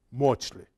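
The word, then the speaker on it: Mauchly: His name is spelled, could you please type it? M-A-U-C-H-Y. L-Y. Mochley.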